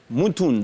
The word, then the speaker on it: Moutound: Est-ce qu'on prononçait le D ou pas? Ça arrive souvent. D'accord. Moutound, on va Moutound. Y arriver. Voilà. Moutound.